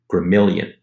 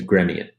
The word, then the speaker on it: Gremion: wise to it but abigail was calling him gremilian his name is gremion so right off the